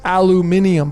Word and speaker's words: aluminium: pronounced both ways but properly through the royal society of chemistry it's aluminium but it's al it's